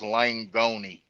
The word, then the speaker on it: Langoni: quick y'all uh Joseph's last name just so y'all pronounce it correctly is langoni he's like Italian langoni so so wait a minute the E's not silent no it's it's Lang gon um I apologize one